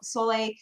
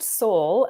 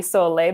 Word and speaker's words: Sole: you can see um i suppose if you were speaking italian it would be so lay but you know i i don't say it that way so it's just soul theater for now yeah